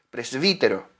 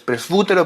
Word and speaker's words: presbítero: Anciano en el griego es presbítero. Pres- presfútero, pero se pronuncia presbítero.